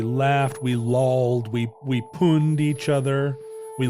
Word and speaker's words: pwned: what you would say I always say pwned to run with owned pwned yeah I guess